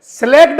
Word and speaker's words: slaked: है, इसको बोलते हैं स्लेक्ड लाइम। क्या बोलते हैं बाबा सर, स्लेक्ड लाइम कहते हैं इसको, क्या कहते हैं, स्लेक्ड लाइम, SLAKED, सी नहीं आता है स्पेलिंग में, स्लेक्ड लाइम कहते